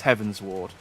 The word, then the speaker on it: Heavensward: keep going a heaven sword i know it's heaven's ward heavenswood heaven heavenswood heavensward i try i know the pronunciation for some reason my tongue doesn't want